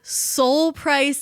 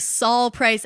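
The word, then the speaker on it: Sol Price: episode the other week we pronounced the founder of Costco as Soul price instead of Saul price as a as a as a nickname for Solomon okay someone was like it's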